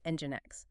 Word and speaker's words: NGINX: Ngx, pronounced engine X, right?